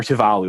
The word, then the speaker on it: Tuvalu: And then everybody at the end decides to launch a nuclear war on the tiny island nation state of Tuvalu, or Tuvalu, that's how you say it.